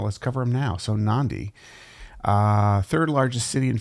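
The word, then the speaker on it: Nadi: I guess it's pronounced Nandi. There's a kind of a an N sound that comes before the D in in the in the Fijian language. So, Nandi, which is the third largest city.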